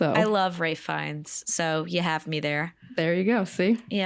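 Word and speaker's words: Ralph Fiennes: It's also interesting because Ralph Fi, is that how you say his name? Rafe Rafe Fines. Rafe Baltimore. It's It's also Rafe. It's not Ralph.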